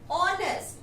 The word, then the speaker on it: honest: Its pronunciation is honest. H is silent here.